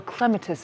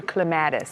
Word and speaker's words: clematis: It's a little clematis vine or clematis. Clematis depending upon which part of Ohio you're from.